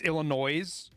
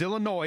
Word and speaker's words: Illinois: And it's Illinois. It's not Illinois. If it was Illinois, it wouldn't have a fucking S on the end of it.